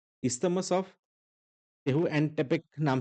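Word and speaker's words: Tehuantepec: Next है isthmus of टेहुएंटेपेक नाम से एक आता है, थोड़ा-सा प्रोनाउंसिएशन डिफरेंट है, बट देख लेना टेहुएंटेपेक नाम से आता है एंड वो आता है मेक्सिको में।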